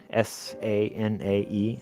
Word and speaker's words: Sanae: Her first name is Sanae, S-A-N-A-E, Sanae, and then last name is Takaichi.